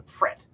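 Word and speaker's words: Pfrit: mammals is the pret it's p-f-r-i-t very hard to pronounce i'm going to call it the print the fret like a silent p fret ambulus hirsutus a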